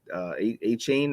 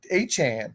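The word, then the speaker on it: Achane: guy from Miami, who I always say his name wrong, I don't believe he was a high pick. A-Chain or A-Chain. Well, that's a great segue, Chris, because my number 8 is Devon A-Chan.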